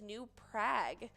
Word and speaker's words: New Prague: the actual pronunciation is new prague the town name rhymes with bag not bog while we are on